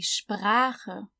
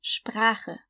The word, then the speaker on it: Sprache: So the SP at the beginning is sp, and then we have the German R, the R, and then we have the CH, which is the guttural one because it comes after A. So ch. Die Sprache.